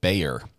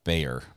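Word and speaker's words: Bexar: of Texas county of Bayer that X is pronounced like a y Bayer um learned that yesterday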